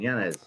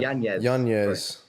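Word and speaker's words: Yanez: come up to against Adrian janz no that's right Yan apparently is the the right pronunciation which found out last fight um super he's a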